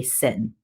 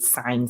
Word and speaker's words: sine: e and therefore a lot of people say sin it's not really sin okay it's still sine it's just abbreviation so you pronounce it sine still okay what follows the trig function is